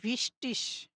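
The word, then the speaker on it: wichtig: গে থাকে তখন এটা উচ্চারণ হচ্ছে ইসের মতো উচ্চারণ হবে। ঠিক আছে? ইস। যেমন রিস্টিস মানে সঠিক, রিস্টিস মানে সঠিক। ঠিক আছে? তো ভিস্টিস এখানে হচ্ছে আর কি এখানে একটু টাইপিংটা মিস্টেক হয়েছে।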